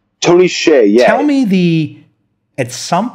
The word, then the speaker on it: Hsieh: Is it pronounced? Tony Hsieh, yeah.